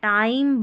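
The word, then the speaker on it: time: तो यहाँ पर आई को हम आई पढ़ते हैं, यहाँ पर मैजिक ई वाला। अब आई की ध्वनि आई बना देता है, लॉन्ग बना देता है। टाइम, बाइक, 5, काइट, 5 है ये, और ये स्माइल।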